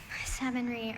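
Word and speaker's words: savonnerie: Savonry. Are there any alternate pronunciations?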